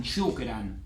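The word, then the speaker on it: شكرًا: Y con las 28 letras del alfabeto árabe, sí o sí se agrega el alif, que no se pronuncia. Esto se usaba, como les dije, en objeto directo, pero también se puede usar en adverbios, como en shukran o en afwan.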